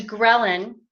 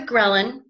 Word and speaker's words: ghrelin: full and then there's ghrelin which I think it's funny that it's spelt that way like Karelin because it's the hunger